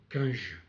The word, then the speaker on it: Cunge: Je me suis un peu renseigné pour la prononciation, donc c'est Cunge.